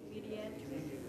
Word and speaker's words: Mediatrix: Mediatrix.